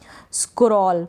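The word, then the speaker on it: scroll: आर क्योंकि आर क्या है, कॉन्सोनेंट है, व्यंजन है, इसलिए हमने एससी को स्क पढ़ा। स्क्रॉल बन गया, डबल एल को ल पढ़ा जाता है, ऊपर नीचे करना उसको कहते हैं स्क्रॉल।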